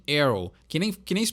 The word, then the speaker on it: Aerosmith: o Aerosmith bom então o jeito correto de se fala o nome dessa banda é heroism então tem aí o th no final e tem não pronunciar todas as letras do nome né não é Aero e sim Hero que nem crise pronuncia